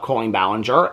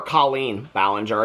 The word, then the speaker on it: Colleen Ballinger: Okay, so I just wanted to kind of have a conversation with you guys today about Colleen Ballinger and the last year.